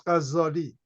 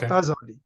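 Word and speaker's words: Ghazzali: you would notice that people pronounce his name as Ghazali, with a tashdid on Z, not Ghazali.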